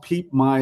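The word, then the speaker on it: Phimai: small town called uh it's called peep my is how you say it but it's pH M AI um and it's about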